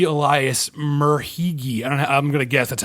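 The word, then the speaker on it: Merhige: Elias Murhigi.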